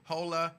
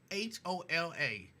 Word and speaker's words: hola: Jerica says, hola, me familia, good afternoon. That's how you pronounce that, ain't it?